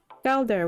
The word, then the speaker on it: Galdr: Galder was apparently how it's pronounced.